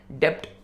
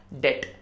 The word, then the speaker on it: debt: DEBT में B silent है, डेप्ट नहीं होगा, डेट।